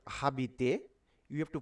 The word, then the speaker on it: habiter: It is not habiter. You have to pronounce this word as habiter. You have to pronounce from here A B I T O R. That means habiter, because ash is phonetically silent.